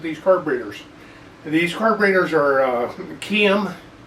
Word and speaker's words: Keihin: These carburetors are Keihin. It's Japanese, but it doesn't sound like it. But that's the way supposedly it's pronounced. I've always called them Klein just because I didn't know any better.